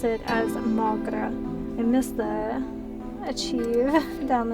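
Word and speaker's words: mo ghrá: One dialect would pronounce it as Mogra.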